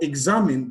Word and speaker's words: examine: on the first syllable for examine the stress is on the second syllable and for execute the